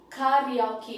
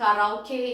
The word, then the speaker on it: karaoke: language then we have ka real key kariyaki which is not karaoke in india descartes in japanese which